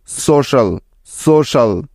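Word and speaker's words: social: এস ও সো এবং সি আই এ এল শাল, সোশ্যাল, সোশ্যাল।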